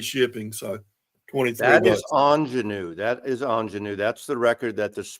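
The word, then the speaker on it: Ingénue: That is ingenue. That's the record that this morning Mike couldn't pronounce the name. So yeah. Mike, ingenue is difficult to pronounce. Ingenue, which French, but it's an excellent Katie Lang record.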